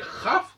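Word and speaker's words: כ: Alors en hébreu, mais ce qu'on appelle la lettre double, le Chaf, le Kaf, qui tantôt se prononce Kaf quand il y a un point à l'intérieur, et Chaf quand il n'y a pas de point.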